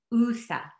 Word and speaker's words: Usa: The letter USA are simply the English way of spelling the pronunciation of my home village name, pronounced USA.